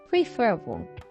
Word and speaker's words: preferable: 근데요, however, in several disyllabic stems with final stress, it shifts the stress one syllable left to the stem initial, as in admire, admirable, compare, comparable, prefer, preferable. 하지만 끝에 강세를 지닌 여러